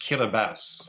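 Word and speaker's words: Kiribati: to fall into all four hemispheres uh it's pronounced kabas but it looks like kabati yes uh Kass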